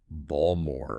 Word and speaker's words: Baltimore: this guy in Baltimore he was surprised when someone couldn't understand his pronunciation of Baltimore apparently to this person it sounded like balmore or or balmore which I got it